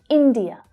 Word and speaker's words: India: India, India. The stress there is on the first syllable.